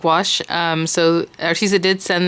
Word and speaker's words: gouache: this artis iguazu site you pronounce it metallic wash so she's it did